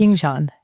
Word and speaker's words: Yingshan: So why don't you tell us a little bit about what you and your colleague Yingshan Shao, is that correctly pronounced? Yingshan, yeah.